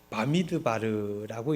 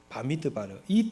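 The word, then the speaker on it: במדבר: 어떻게 읽는지 모르겠죠? 바미드바르라고 읽습니다. 히브리어는 오른 왼쪽에서 오른쪽으로 읽는게 아니라 오른쪽에서 왼쪽으로 읽는 거예요. 바미드바르.이 뜻이 무엇이냐?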